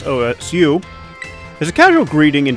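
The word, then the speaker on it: 押忍: something different got it uh and then the pronunciation that she says OSU is a casual greeting in Japan in Japanese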